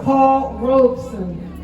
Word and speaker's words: Paul Robeson: And I emphasize that because many people mispronounce it, but it is Paul Robeson.